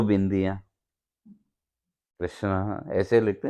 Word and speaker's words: कृष्ण: हाँ, द्रौपदी को पुकारना करना हो तो वो पुकारो, और वहाँ कृष्ण जब संस्कृत में बोलेंगे तो कृष्ण है, और हिंदी में भी कृष्ण, कृष्णा नहीं है, कृष्ण।